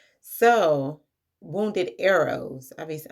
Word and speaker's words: Eros: 8, Episode 5, Wounded Euros. So, Wounded Eros. Obviously, I don't know why I said Euros. Euro is money. Eros is the Greek god of love. Two different things, two different pronunciations, but that's neither here nor there.